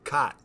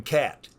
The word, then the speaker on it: Kaat: the nickname kitty well you pronounce my name properly cot but a lot of people even to this day that i've known for years will just by habit say jim cat so when i joined the senators my first spring i was 18 years old everybody pronounced my name cat one of the veteran